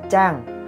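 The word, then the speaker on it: 장: Nhưng mà đọc Giang như vậy là sai. Các bạn phải đọc chữ này là chữ Trang, là chữ chờ đó các bạn. Nên đọc là chữ Trang là đúng nhất.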